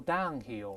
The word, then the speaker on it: downhill: 注意这个 downhill 是副词，叫下山地，注意重音在这个 down 这个音节上。